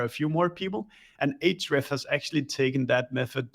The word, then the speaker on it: Ahrefs: pronounce it at our company is Ahrefs.